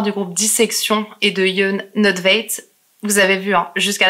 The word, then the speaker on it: Jon Nödtveidt: Et j'en ai fini de vous raconter l'histoire du groupe Dissection et de Jon Nødtveit. Vous avez vu, hein, jusqu'à la fin, je fais attention à la prononciation.